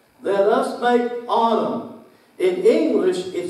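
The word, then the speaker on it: אָדָם: let us make man that that word is pronounced autumn then let's make autumn in English it spelled in lowercase I am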